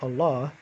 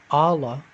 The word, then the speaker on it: Allah: begol okay so similarly with the word allah instead of saying allah you say long allah allah allah say it